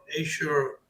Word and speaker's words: Azure: And also, as you said, like Azure has been gotten really well or really good.